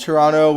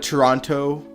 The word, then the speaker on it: Toronto: I pronounced the I I pronounced Toronto without the T at the end it's I I've never called it Toronto Toronto random question but